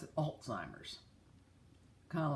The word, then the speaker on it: Alzheimer's: a t it is Alzheimer's and if you'll notice more and more people are realizing there is no T in it so to make a